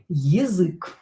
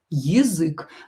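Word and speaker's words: язык: yazyk yazyk but don't forget about stress do not stress this letter the first vowel stress u.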